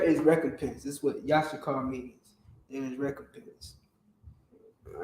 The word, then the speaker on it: Issachar: The word Issachar or Yashakar, which is the proper pronunciation, Yashakar. Yashakar. All right? That's how you properly pronounce Yashakar, Issachar.